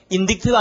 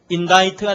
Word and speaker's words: indict: 상징적인 의미로도 많이 쓰이고 동사형이 발음이 어떻게 될까요? indict가 아니고 뭐죠? indict가 되겠죠? indictable, indict 이런 식으로 되는 거예요.